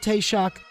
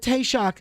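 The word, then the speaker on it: Taoiseach: used the word T shock in every year and then we used the word taste shock because nobody wants to make a mistake pronouncing it they all call on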